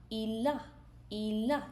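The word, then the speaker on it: il a: So he has means ill a ill a ill a ilah. It will not be like il. It will be pronounced continually. It will be like ilah.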